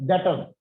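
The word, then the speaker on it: debtor: जी सर, डेटर, B silent है, बी नहीं बोलते।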